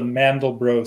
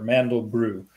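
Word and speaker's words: Mandelbrot: special set of numbers called the mandelbro set or mandel brew that's how you pronounce that person's name it's named after a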